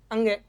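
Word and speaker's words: ङ: का क का पांचवा क्या होता है अंग जिसको अपन डे बोल देते हैं लेकिन शुद्ध उच्चारण है अंग और फिर म का मय।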